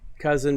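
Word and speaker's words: Kousen: My name is Ken Cousin. My company's Cousin IT Incorporated. It's just pronounced Cousin, but it's spelled K-O-U-S-E-N, which looks a little weird, but what are you going to do?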